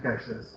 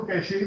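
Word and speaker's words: cache: اور یہ جو کیش میموری ہے، اچھا کچھ لوگ اس کو کیشے بھی کہتے ہیں، تو ویسے اس کی اسپیلنگ اس طرح سے بٹ it's pronounced as کیش. جو کیش ہوتا ہے نا سیٹل والا کیش، اٹس ناٹ کیشے، اٹس کیش memory.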